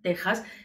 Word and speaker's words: Texas: del estado que texas aunque se pronuncia texas se escribe con x por esa grafía propia